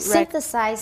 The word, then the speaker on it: synthesize: also helpful for understanding how computers synthesize speech and how speech Synthesize speech. Once again, take it slow because there's a TH and an S and it's hard.